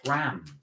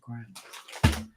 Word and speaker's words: Graham: Grams. It's pronounced Graham.